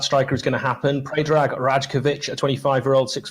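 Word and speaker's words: Predrag Rajković: don't believe that striker is going to happen pray drag rajkovic a 25 year old six foot two goalkeeper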